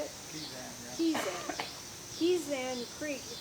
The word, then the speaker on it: Kezan: Kezan, yeah.